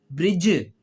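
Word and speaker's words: bridge: डी डी के बाद जी आ जाए या डी के बाद जे आ जाए। तो दोनों सूरतों में डी साइलेंट हो जाता है।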